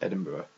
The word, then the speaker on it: Edinburgh: okay um and there Edinburgh which is very very strange because it's spelled completely differently it doesn't have a burrow in it at all so it's just Edinburgh I don't know it's